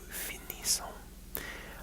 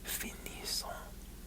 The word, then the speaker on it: finissons: And then, nous finissons. I believe that you pronounce the S on IR verbs, like finissons. I think you pronounce it like that.